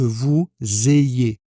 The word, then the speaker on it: vous ayez: Il est préférable que vous ayez avec la liaison.